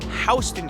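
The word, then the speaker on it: Houston: this one how would you pronounce it it's pronounced hon street named after William HST who was a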